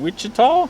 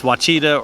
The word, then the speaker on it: Ouachita: are out here in wichita washita wachatal ouachita national national forest in arkansas yeah nobody pronounces it right the first time it's it's wachida or something it's the ouachita national